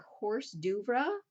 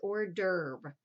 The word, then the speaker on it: hors d'oeuvre: Fallacy, number 8, this word that looks like horse d'oeuvre, that is hors d'oeuvre.